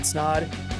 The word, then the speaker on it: Snod: But until next episode, my name is Snod. It rhymes with Odd and I'm out.